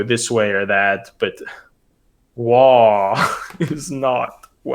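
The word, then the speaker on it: Waaagh!: about their favorite word wha and they say wha rhymes with far but is much longer and it can only be correctly pronounced at a deafening volume rhymes with far it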